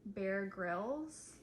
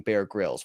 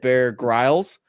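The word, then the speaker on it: Bear Grylls: for these questions because they mispronounced the name Bear Grills, which means they did not know who he was beforehand. That would be Emily, who said Bear Growles, and then Lacy here.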